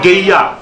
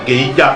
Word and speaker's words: Guéya: Dans le canton Zeraban, il y a Guéya ici également, et ça s'écrit de façon identique. G-U-E-Y-A, Guéya. En ouais, on dit Guéya. Mais eux, ils disent Guéya.